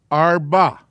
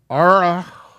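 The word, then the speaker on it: ארבע: Arba. The Ein is not pronounced, but it has to be there. The Resh is pronounced, the Shiva is not. You can't say Ara, ba, Ara.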